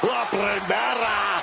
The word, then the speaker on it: La Primera: La Primera. Stephanie, the care. You need to roll your R's a little bit on that, man. La Primera.